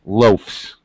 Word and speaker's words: loafs: of the verb and if it's a verb the spelling is not going to change so the pronunciation now follows the pronunciation of an f f or a voiceless sound so it's loafs does anybody know that